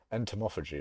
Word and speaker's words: entomophagy: Entomophagy is probably how you pronounce that.